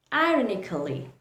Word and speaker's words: ironically: Ironically. That is the incorrect pronunciation. The correct pronunciation is ironically. Ironically. See how I stopped at C? I made the k sound and then I moved to pronounce LLY, not ALLY, not early, just lee.